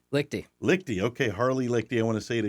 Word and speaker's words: Liechty: Liechty.